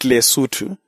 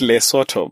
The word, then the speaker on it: Lesotho: the indigenous people they they call it lutu but uh it is spelled l e s o t h o so most of us call it loto because of the way it is spelled but for the Basu it is lutu the land of the